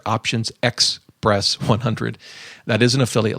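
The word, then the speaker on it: optionsXpress: Express 100 it's options it's spelled o p t i o NS x p r SS 100 there's no e in there options X press 100 that is an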